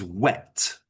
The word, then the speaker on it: whet: Now that's not wet like W-E-T, as in, wet from water. It's wet with an H, meaning to sharpen something.